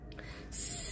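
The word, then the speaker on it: سين: গাণিতিক মান হলো 50 সিন সিনটা জিহ্বাটা নিচে তাতে লাগে উচ্চারণ করবেন আর সিন এর গাণিতিক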